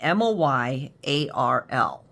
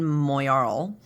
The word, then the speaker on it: Moyarl: This is called the Miguron Moyarl, is what we're calling it. Moyarl. So we're saying Moyarl. If you guys have a different way to say it, let us know, because we're we're like, right?